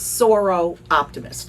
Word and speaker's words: Soroptimist: Seroptimist can be a challenging word for anyone, but go ahead. So it's Soro Optimist.